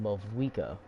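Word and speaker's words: Mavuika: I've been saying Mawika, but it's Mawika because the V silent.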